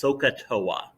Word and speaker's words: SOHCAHTOA: or a mnemonic device that's usually pronounced socatoa when i first learned